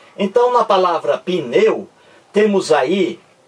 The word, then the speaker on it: pneu: Então, quando você pronuncia pneu, veja aí, você diz pneu, pneu, não é isso? Você demora mais no E. Pneu, ó. O U é pronunciado mais fracamente.